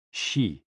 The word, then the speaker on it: xi: Hoo, pronounced like hu, which is associated with the spleen, and Xi, pronounced like shi, which connects the whole body.